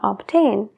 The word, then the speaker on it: obtain: obtener en inglés sería obtain sí que pronunciamos esa B obtain obtain obtain otro ejemplo muy común